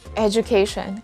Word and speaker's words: education: of the letter j so it's edu or ejo the correct answer is education it's the sound of the letter j that happens there are a lot of words as well in english when instead of producing the letter d sound we're producing the letter j sound and this word is one of them number seven is it